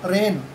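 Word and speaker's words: reign: आर ई आई जी एन रेन, इसमें जी silent है, शासन काल या राज्य.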